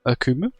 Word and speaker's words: Akumu: n boss once again it is the akum akumu that's how you can pronounce it and today's challenges for hell of